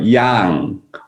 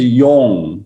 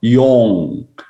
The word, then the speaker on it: Yong: You know, the Korean about Yang and Yong is different. Dr. Yang, Yang, and that's why I'm telling you how to pronounce my name. Yong and Yang is different. You need to look at my mouth. My name is Yong. Your mouth need to come out.